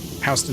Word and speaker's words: Houston: Until then, it's like Both named for different people who said their names differently. Oh. I think I knew that. I just didn't put the two things together in that way. Like Hston Street is named for a guy named Hston and Houston is named for a guy named Houston. So, it's not our fault two guys can't figure out how to pronounce the same name.